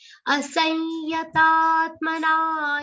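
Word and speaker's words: असंयतात्मना: Asanyatatmana yogo. Asanyatat. That anuswar should be pronounced like a nasal ya. Then ta has to be a long sound, followed by a subtle aghat of ta.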